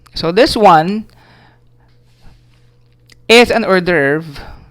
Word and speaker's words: hors d'oeuvre: Alright, this one is pronounced as hors d'oeuvre.